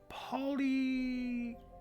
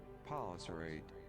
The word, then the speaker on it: polycerate: It is another polysyrate? Polysyrate? How do you say? I'm gonna ask the robot lady how to say this word. Okay. Robot lady, tell me. Polycerate. Polycerate. Polycerate.